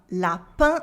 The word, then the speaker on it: lapin: Lapin, lapin, a un sound at the end of lapin.